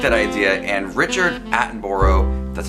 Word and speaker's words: Attenborough: And so I really like that idea, and Richard Attenborough, that's how you pronounce his last name, the guy who plays Santa Claus, is like the perfect pick for Kris Kringle.